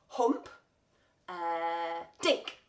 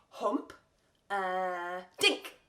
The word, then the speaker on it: Humperdinck: the composer Engelbert Humperdinck you can say it like this hump dick try that with me hump dick that's it it was